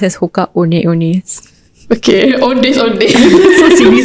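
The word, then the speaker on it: Hoka One One: It's spelled as one One, but it's pronounced as Hoka One-Ones.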